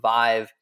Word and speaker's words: Vive: We really loved Vive for different reasons, like, it rhymes with alive and thrive and revive, and it felt like it had really good energy.